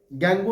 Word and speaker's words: gangue: गैंगू हम पढ़ते हैं ताकि ना स्पेलिंग याद रहे मेरे को, GUE आता है, वरना गैंग में GANG कर देता हूं मैं बार-बार।